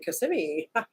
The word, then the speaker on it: Kissimmee: too fast for me where at in Florida Kissimmee Larry wearing Kissimmee thank you I just like saying it now that I know I'm saying it correctly Kissimmee and then we came home for lunch had